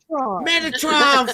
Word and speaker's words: Metatron: Featuring the how do I pronounce this? Metatron. Metatron.